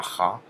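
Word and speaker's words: х: Kha, ça fait pas vraiment un Kha. Mais voilà, en russe, quand vous voyez ça, vous savez que ça se prononce Kha.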